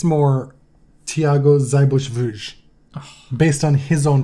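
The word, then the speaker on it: Seyboth Wild: I think those are like German names, but pronounced through Brazilian Portuguese.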